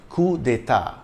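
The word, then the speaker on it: coups d'état: So it's C-O-U-P-S, but it's still pronounced coup. The S is silent, coup d'état.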